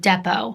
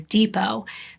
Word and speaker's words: Depot: They had plans to meet at a local bar and restaurant called Depot. Here in the US, we would actually pronounce this as Depot, but it's an area